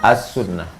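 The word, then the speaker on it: السنة: Al tunjangan Al as-sunnah walaupun tulisannya situ Al membacanya as-sunnah kata as-sunnah secara kebahasaan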